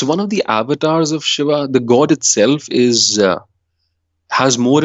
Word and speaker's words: Shiva: Yes, Shiva. Isn't that the statue that's in front of CERN? Yes, it is. The particle collider? Oh my gosh. Mhm. Yes. Interesting. So it's one of the avatars of Shiva.